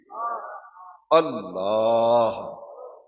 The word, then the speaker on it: اللہ: اس میں اللہ آخر میں ہے کی آواز آنی چاہیے. اللہ صرف کہنا یہ صحیح تلفظ نہیں.